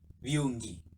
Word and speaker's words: viungi: It should be kiungi and viungi.